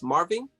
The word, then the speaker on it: Marvin: Marvin?